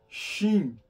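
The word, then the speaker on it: שׁ: o som da pronúncia se o dages estiver do lado direito se escreve sh xim se é o Dag estiver do lado esquerdo se escreve sim com letra S lembra que nós temos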